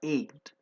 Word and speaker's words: ached: خلي بالكم من نطقها ached. حتى احنا بنقول toothache, stomachache, backache, headache.